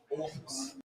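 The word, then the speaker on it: Åhus: And the place that these guys are going, the home of Absolute, is pronounced Orthus. That's not how it's spelled. Hang on. Spelled Ahus.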